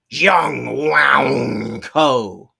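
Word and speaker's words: Jeong-weon Ko: with a pen, but it's Jeong, then new word, Weon, then new word, Ko. Zhong Wang Ko.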